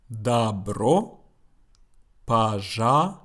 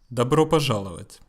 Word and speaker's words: Добро пожаловать: And how it is pronounced. Добро пожаловать. Добро пожаловать.